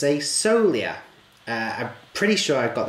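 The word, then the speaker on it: Sogliola: we go it's a Solia I'm pretty sure I've got that right the G is not pronounced it's so Lea basically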